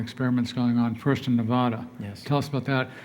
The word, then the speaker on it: Nevada: find that they are quick to tell us we're mispronouncing it when we use the Spanish pronunciation and say Nevada or snowfalling what what